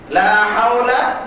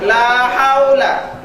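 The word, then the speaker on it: لا حول: Pertama kita baca lamnya yang pertama panjang, la. Lalu yang kedua pakai ha, haula. Nah, ini lamnya ini pendek.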